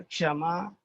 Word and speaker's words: क्ष: अभी देखिए आधा क और ये श मिल करके बन गया क्ष।